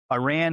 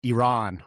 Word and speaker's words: Iran: the same mind that Iran is probably the bad actor and the USA and Israel are on the side of the good. I believe it's pronounced Iran, not I ran.